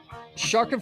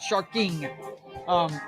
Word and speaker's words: Sharkin' for Pearls: Anyway, Sharkin' for Pearls. Remember, it's no G on that. Just Sharkin', not Sharking.